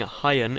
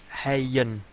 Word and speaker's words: Hyun: by on the we we should be pronouncing hayan as hayyan as Indian Running With The Sun um I've called him iron for all of times